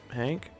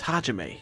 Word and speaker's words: Hajime: Are you even eating, Hank? My name is Hajime. You only got the H right. And the A, but it was the wrong pronunciation of the A, so...